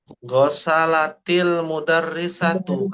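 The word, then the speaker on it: غسلتِ المدرسةُ: Misalkan nih gosalat almudarrisatu misalkan bacanya gimana? Gosalatil. Wah. Gosalatil mudarrisatu. Kenapa gosalatil? Kenapa enggak gosalat almudarrisat? Dibacanya tetap sukun.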